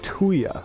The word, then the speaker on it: tuya: Brown Bluff is what is called a tuya. That's spelled T-U-Y-A, and that's a word for a volcanic formation that was built underneath a very thick ice sheet.